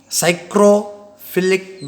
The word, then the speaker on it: Psychrophilic: Psychrophilic bacteria, here P is silent, don't pronounce psychrophilic. Okay, only pronounce that.